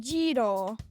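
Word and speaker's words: gyro: no this is g yr o but it's pronounced jro yo Euro what it does sound like used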